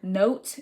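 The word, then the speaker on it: Knowt: And the next thing I have is to use this app called Note. If you're taking any AP classes, it's spelled K N O W T.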